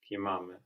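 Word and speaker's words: κοιμάμαι: kimame, Kimame. So this kimame has the accent on the ending, and it's also ame, no?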